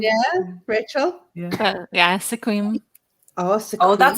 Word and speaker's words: Sequim: Yeah, Sequim.